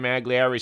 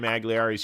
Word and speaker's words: Magliari: If you haven't seen Sam Magliari's stuff, get on over to Sam Magliari's YouTube channel.